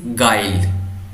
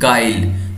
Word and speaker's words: guile: The first word is गाइल, इसको pronunciate क्या करना है, गाइल, GUILE, गाइल।